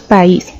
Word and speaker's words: país: país como podemos notar la pronunciamos en dos sonidos o golpes de voz por separado nosotros decimos país entonces cumple por un